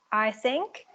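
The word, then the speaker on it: Eysenck: I think you pronounce it I-sync, with the three-factor trait theory.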